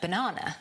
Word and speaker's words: banana: And the same with the word banana. The second syllable is stressed, so the other two become schwas. Banana, not banana. Banana.